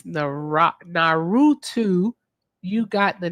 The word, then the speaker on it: Naruto: Cousin Jesse sent $3 and said it's Naruto. You got the 9 foxtails gift. 9-tail fox demon's name is Kurama. I pronounced that right, didn't I?